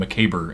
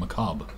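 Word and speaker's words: macabre: So you get people saying aful and mccabber instead of awful and macob.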